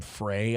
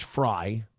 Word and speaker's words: Frey: __ ] about Minnesota, they call him Frey. I heard Tim P calling him Frey. It's like, "Dude, you're laring." His name's His name's Fry. I know it's spelled differently, but if you're actually